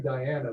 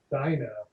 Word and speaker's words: Dinah: People like to call me Diana, but my real name is Dinah.